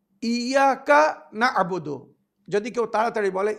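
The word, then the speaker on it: إِيَّاكَ نَعْبُدُ: শয়তানের নাম মালিক ইয়ামিদ্দিন ইয়াকা নাবুদু ইয়াকা নাস্তাাইন সমস্ত শব্দগুলো আলাদা আলাদা সুন্দরভাবে উচ্চারণ করতে হবে ইয়াকা নাবুদু যদি কেউ তাড়াতাড়ি বলে ইয়াকাবুদু ইয়াকা ইয়াকা আলাদা না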